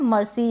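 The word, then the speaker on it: mercy: Next क्या है, मर्सी। यहाँ पर भी सी के बाद में वाई है। अकॉर्डिंग टू रूल, अगर वाई, ई या आई आएगा तब हम सी को स प्रोनाउंस करेंगे। तो ये है मर्सी।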